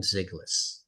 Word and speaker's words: Zyglis: cartoonists Jack Omen and ziggas am I pronouncing your last name right that's right okay yeah and